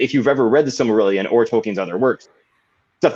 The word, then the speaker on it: Silmarillion: Silmarillion, yeah.